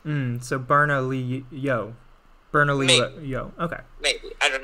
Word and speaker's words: Bernalillo: it i don't know i always get confused with the double l's well it makes like it's supposed to make like a y sound like a tortilla like um so berna lee yo bernalillo yo okay maybe i